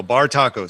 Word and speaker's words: Bartaco: Bartaco sounds like it's spelled like it sounds. BAR taco, one word.